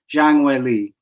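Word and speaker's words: Zhang Weili: in the pronunciations here it's actually the surname comes first so it's Zhang Wei Lee so just so you guys know that yeah Chinese Chinese fighters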